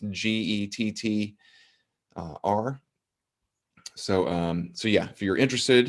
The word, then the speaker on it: Gettr: We have been posting on Getter, I believe it's pronounced, Gettr.